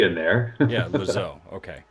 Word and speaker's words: Lozeau: Yeah, Lozeau. Okay. Lozeau. It's easier to go, imagine like it's L-O-Z-O, just Lozeau.